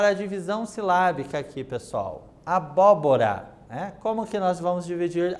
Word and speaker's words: abóbora: Então, olha lá. Abóbora. Então, são 4 sílabas nessa palavra. Observe que, de trás para frente, eu observo que é a antepenúltima sílaba, acentuada, bó, certo?